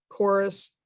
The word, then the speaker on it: chorus: they correspond with, like chorus is a CH, but it has a K sound.